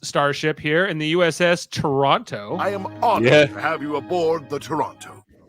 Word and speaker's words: Toronto: that's why one of my web handles is Toronto. I am honored to have you aboard the Toronto. Toronto's a two-syllable word, and I won't have it any other way. Now, if you put in